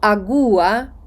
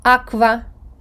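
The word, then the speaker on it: agua: англійській w Так таква но агуа як дехто хоче читати но Аква ти мала зрештою якщо ви скажете Аква все одно вас зрозуміють але нагоструйте своє вухо чи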